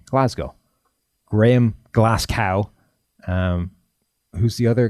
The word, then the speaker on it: Glasgow: Gordon McGinnis how do you pronounce Glasgow you pronounce it Glasgow perfect there you go that's how you pronounce